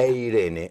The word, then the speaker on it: Eirene: Eirene, así, como se pronuncia. Como Irene, pero con E adelante.